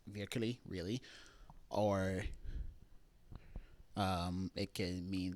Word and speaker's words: virkelig: It has, depending on the context, it could mean like virkelig, really, or it can mean that like, yeah, like truly.